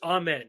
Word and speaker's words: Amen: By the way, I know I've been pronouncing it wrong the whole time, and I'm gonna get better at it. Someone told me on Twitter that I've been pronouncing it wrong, and I think Jonathan corrected me on a podcast, and I still continued. So I know it's Amen. I believe it's Amen.